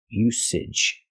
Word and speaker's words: usage: word is pronounced usage we have to use the S sound S no voice s usage like star and sleep use usage and now to the usage not usage I cannot make a voice and say Z usage there's no voice there's no z sound like zebra it's the S sound s usage usage example there are